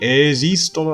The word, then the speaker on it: esistono: 여기 esistono 할 때 S가 처음 거는 유성음이에요. esi. 그 다음 두 번째 S는 들리시나요? 이렇게 무성음으로 S라고 발음해야 됩니다.